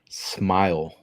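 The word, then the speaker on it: Smael: And this this is how you pronounce his name. Okay, ready? Smile. Mundon Jr.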